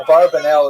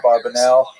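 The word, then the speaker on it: Abravanel: they'll say a barbanell is a popular song. A barbanell. Ba a barbanell. You've heard it. Um and um but the probably correct I'm following Netanyahu probably correct is Abraanel. That's probably how he pronounced it more or less with my Canadian accent.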